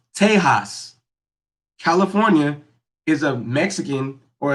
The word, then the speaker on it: Tejas: Uh, Back in the day, before colonization happened, Texas was actually pronounced Tejas.